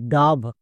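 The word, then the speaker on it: dove: আকার সাউন্ড পেয়ে নিয়েছি তাহলে ডি এর জন্য ডো ও এর জন্য আকার ভি ভি এর জন্য ভো এবার একসঙ্গে উচ্চারণ করো ডি ও ভি ই ডাব শেষের ই সাইলেন্ট মনে থাকবে চলো তাহলে আরেকটি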